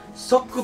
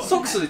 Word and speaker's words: SOK: たいなとねこれソックでいかに読み方英語で何て読むんこれ sok で多少型バッテリーて甘い負けないてもソックスでこれは音が入ってるからですねまあという